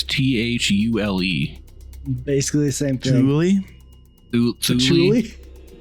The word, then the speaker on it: Thule: of the Thule Society, or Thule, I believe it's pronounced. What? Cthulhu? There's a thing, no, it's Thule.